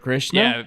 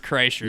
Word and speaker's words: Kreischer: Bert Krishna? Yeah, Bert Kreischer.